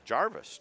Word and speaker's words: Gervais: a nice save so am I saying it right Gervais or Gervais Jarvis actually Jarvis Jarvis okay so the the aid is invisible sometimes it's like this letter silent Jarvis yep edina kid came